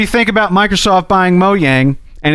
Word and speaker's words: Mojang: and that and that moyang is pronounced moyang which I did not know everyone thought was moang prior to well [